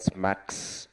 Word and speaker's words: SMACSS: how to pronounce this they call it smack sometimes but uh it it